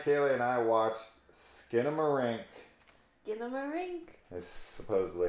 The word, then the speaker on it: Skinamarink: Skinamarink. Is supposedly how you pronounce this damn movie.